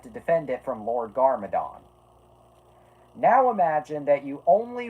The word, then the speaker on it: Garmadon: I also love how I very clearly pronounced that as Garmadon with an M and you still got a B out of it.